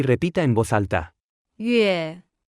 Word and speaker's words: 月: 月月月月月月月 Se pronuncia con el cuarto tono.